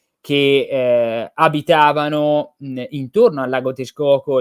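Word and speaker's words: Texcoco: il gran Mar Nazzi però si dice tes Coco la x si pronuncia SH Hai ragione si dice tes Coco Hai ragione come mesico mesica Sì sì esatto Eh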